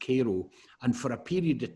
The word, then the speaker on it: Cairo: is about a town in Southern Illinois called Cairo it's spelled Cairo like the capital of Egypt Cairo but it's pronounced Cairo and for a period of time in the